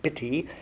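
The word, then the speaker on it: bity: haven't used that much the B which is pronounced bitty and the seal meaning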